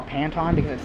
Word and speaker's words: Patton: the name pan that the name is actually pronounced P Patton but I don't really pronounce it that way